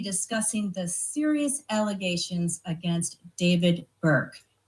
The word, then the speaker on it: D4vd: D4 V D and if you look four kind of looks like an A. So it's David first of all and it's pronounced David.